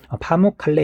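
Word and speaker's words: Pamukkale: 지형 은 석회화 당국 아까 앞에서 카모 카메라 그랬는데 파 뭐 칼 발음이 조금 이상이네요 터키에 있는 대표적인 석회가 담그 당구 지형이 파묵칼레 에요 그다음 파랑과 연안이 의해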